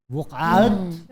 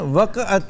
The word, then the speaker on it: वक़अत: वक़्त इसका actual pronunciation वक़अत है, यानी बोला जाता है वक़अत, लेकिन वक़्त वक़अत।